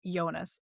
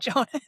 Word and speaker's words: Jonas: If you read it, you might think Jonas. What is he supposed to be? you you tell us. I had this conundrum when we came to the pronunciation guide and it's like okay like it would be Yonas, you know, if you're